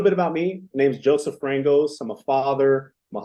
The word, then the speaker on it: Joesph Frangos: I'm here with Joesph Frangos.